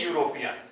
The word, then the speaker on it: European: John is a European. You should mind here, there is a word European, but we have used a. It starts with vowel E, but its pronunciation is, its sound is like consonant.